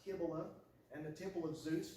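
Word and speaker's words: Cybele: The temple of Kiba looks like sevil, but it's actually pronounced Kibila and the temple of Zeus were connected by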